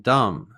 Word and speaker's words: dumb: And just remember, we don't pronounce the B in dumb.